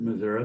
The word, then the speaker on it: Missouri: st louis missouri and i pronounced it missouri because that's where i'm from but i moved from